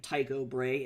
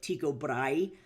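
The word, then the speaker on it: Tycho Brahe: But like famous astronomer Tao Bray, a lot of Americans pronounce his name Tao Bray instead of Tiko Bry, you know.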